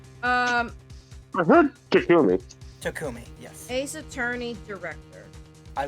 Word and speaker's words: Takumi: I don't know how it's spelled. I heard Takumi. Takumi, yes.